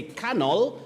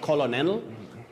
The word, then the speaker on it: colonel: easy to handle them you say cannell not colonel penguin not penguin and